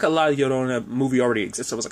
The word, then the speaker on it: La Llorona: Because in this episode, La Llorona, I want to say Llorona, but it's Llorona. I'm sure my pronunciation is still abysmal at best.